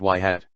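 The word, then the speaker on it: ŷ: When our system is given an instance's feature vector, it outputs a predicted value equals h, for that instance, y is pronounced y hat.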